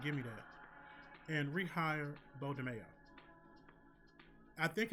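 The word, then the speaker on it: Beau DeMayo: You all need to rehire Bo Domingo. I'm sorry, Bo DeMayo. I'm so used to saying Coleman Domingo. Bo DeMayo. Had to put all the syllables in that word.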